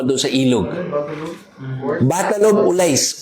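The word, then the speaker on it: Ullais: Battle of Ulais. Ulais. O-L-A-I-S. Battle of Ulais. Minsan, binibigkas nila Battle of Ilis.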